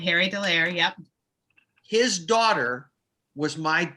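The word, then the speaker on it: de Leyer: Am I pronouncing it right, Dallaire? That's right, Harry Dallaire.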